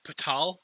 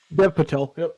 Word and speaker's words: Patel: i will say it's dev patal i guess this is how you say his name patel patel now i know no one in this